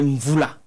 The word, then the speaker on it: Mvoula: c'est Mvoula. Mvoula. Je veux bien prononcer. Parce qu'on nous a un peu déformé ici. C'est Mvoula. Ça se lit même, ça s'écrit Mvoula, NW, mais ça se lit Mvoula.